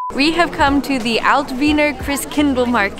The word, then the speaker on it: Altwiener Christkindlmarkt: We have come to the Altwiener Christens. Oh, I messed it up. We have come to the Altwiener Christkindlmarkt.